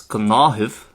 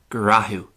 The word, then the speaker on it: Gnáthamh: While I would pronounce this word as Gnáthamh, and this word means routine or procedure, by the way, an Ulster speaker would more often than not pronounce it as grahu.